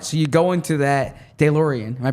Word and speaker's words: DeLorean: So you go into that DeLorean. Am I pronouncing it correctly? No. DeLorean.